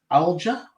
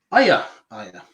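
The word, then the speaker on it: Aija: Alja? Alia? Aya. Aya. Yeah. I've got a Latvian at work that told me that's how it's pronounced.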